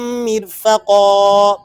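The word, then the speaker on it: مِرفَقًا: وَيُحَيِّ لَكُمْ مِنْ أَمْرِكُمْ مِرْفَقًا۔ اس رائے ساکنہ کو آپ نے باریک پڑھنا ہے۔ مِن رَحْمَتِهِ وَيُحَيِّئْ لَكُم مِّنْ أَمْرِكُم مِّرْفَقًا۔ آئیے پوری آیت مبارکہ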